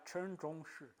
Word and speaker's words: Shen Zhongxi: Não acho que é de samurai aqui, né, na terra do cervo branco, aqui eles escrevem Shen Zhongxi, né, mas a gente fala Chen Zhongxi. Eu aprendi a pronúncia aqui, né?